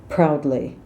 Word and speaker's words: proudly: might be trip ups proudly Americans will say proudly it's very much an owl sounds like owl I hurt myself it